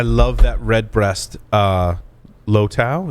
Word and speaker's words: Lustau: that red breast uh low tau is how you say it lustau lu style l-u-s-t-a-u it's like uh irish whiskey but